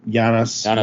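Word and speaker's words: Janusz: dude's name he's polish it's spelled j an us Z so jannis whatever but I'm I'm looking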